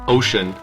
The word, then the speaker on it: Wouxun: did a video on the wookson pronounced ocean kg 1000 50 watt